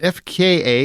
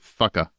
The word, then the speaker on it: FKA twigs: So Nicolas Cage, is it FKA? Is that how you actually say her name, or is it Fucka? Yeah, FKA Twigs, yeah.